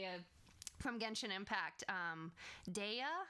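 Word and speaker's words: Dehya: from gentian Impact um Daya I think is is how you say her name the character it's one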